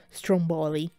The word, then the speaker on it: Stromboli: Quindi non ci si deve stupire se, per esempio, Mangiafuoco venga chiamato Stromboli, anche se gli americani mettono l'accento sulla seconda O, Stromboli.